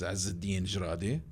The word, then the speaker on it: Ezzeddine Jradi: So it's EZZIDDINE J like Joseph RADI.